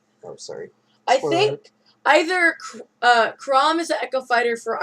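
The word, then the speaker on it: Chrom: Crom.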